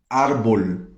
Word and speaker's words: árbol: Em espanhol seria árbol. Árbol tem um acento no A, mas eu já ouvi gente falando arbol, arbol, né? E não, é árbol.